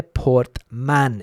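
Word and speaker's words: Portmán: The accent on the A in the word there, Portman in Murcia.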